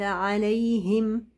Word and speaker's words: عليهم: عليهم عليهم هم حرف الهاء اخر حاجه في جهاز النطق اقرب حاجه للرئه ولا لذلك هو نصه هواء فلو انا ما انتبهتش للمخرج حقيقه لحرف الهاء هلاقي نفسي بنطق هواء هلاقي نفسي بنطق صوت لكن مش حرف هلاقي نفسي بقول عليهم عليهم فين فين فين جسم الحرف عليهم هم هم خدتوا